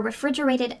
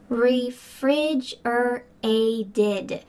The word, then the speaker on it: refrigerated: Refrigerated. Refrigerated. That final t is going to sound like a d in American English because it's surrounded by vowels.